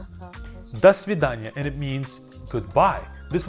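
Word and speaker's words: до свидания: Next word is dvid das vida.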